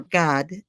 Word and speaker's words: Gad: okay so um in the tribe of GAD or or God the way youd pronounce it and the leader of